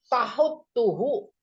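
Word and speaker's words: تَحُتُّهُ: Qauluhu tahuttuhu bifathit ta wa dhammil ha ba'daha ta musyaddadah madmumah.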